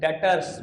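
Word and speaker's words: debtors: बोलते हैं डेटर्स बाबू कोई नहीं बोलेगा डेटर्स टर्म इ डेटर्स बी वर्ड साइलेंट र ठीक है हम बोलेंगे डेटर्स हर वो कस्टमर जिसको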